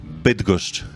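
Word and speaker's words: Bydgoszcz: Bitgust.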